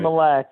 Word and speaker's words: Mille Lacs: So you're Mille Lacs. Is that pronounced right? Mille Lacs, yep.